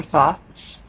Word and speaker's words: Thoth: There's the Thoth or Thoth. Different people pronounce that differently.